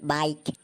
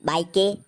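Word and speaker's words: bike: जैसे बाइक, तो बी आई के ई, इसको हम बाइके नहीं पढ़कर बाइक पढ़ेंगे क्योंकि स्पेलिंग के लास्ट वाला ई साइलेंट होता है।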